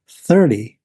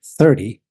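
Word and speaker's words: thirty: the number 30 as 30 let's get into it notice what happens to the T sound when we say 30 we change T to D now to say 30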